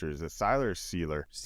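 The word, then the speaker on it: Sieler: I guess getting Zach Seiler back was a huge, or is it Seiler or Sealer? Seiler. I've heard multiple different pronunciations.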